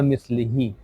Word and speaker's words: مثله: Over here, Brother Altaf, if you see, we have a small ya after mislihi. That ya cannot be pronounced separately. It is only there to give us an understanding that here the pronunciation has to get a bit more e.